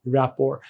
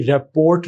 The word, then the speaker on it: rapport: आज का वर्ड है रैपोर। आप इसकी प्रोनाउंसिएशन में देखेंगे कि टी साइलेंट है, प्रोनाउंसिएशन में इसकी रैपोर्ट नहीं है या रैपर्ट नहीं है, प्रोनाउंसिएशन इसकी है रैपोर।